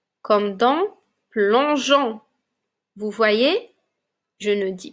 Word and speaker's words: plongeon: mon e et puis mon o comme dans plongeon vous voyez je ne dis pas plongon mais plongon maintenant nous allons lire quelques syllabes lisez avec moi les enfants g g